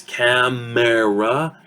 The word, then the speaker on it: camera: So instead of saying camera, 3 syllables, we reduce it into a 2-syllable word.